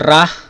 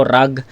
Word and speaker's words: Wragh: Topak versus ra. Ra pala ang ano doon ang pronounce doon. Akala ko rag.